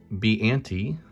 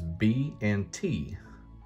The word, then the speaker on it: Biante: you want some trivia is b and t if and if you sound that out phonetically that is the name or initials of the people who created it up next we got